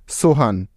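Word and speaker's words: Sohan: এখন আমরা নামটি উচ্চারণ করছি সোহান, সোহান।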